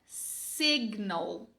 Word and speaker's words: signal: Essa palavra aqui é signal. Signal. Agora, se sign não tem o G pronunciado, por que signal tem? Por que não é signal? Era pra ser, né? Lógico. Não, não é. Era pra ser, mas não é.